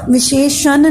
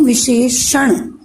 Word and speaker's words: विशेषण: विशेषण नहीं, विशेषण। हमें उच्चारण भी सीखना है, ठीक है?